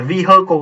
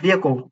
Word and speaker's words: vehicle: Chơi, từ này hai âm nha các bạn. Vehicle nhá, không phải là vehicle đâu. Từ này phát âm nhá, vehicle.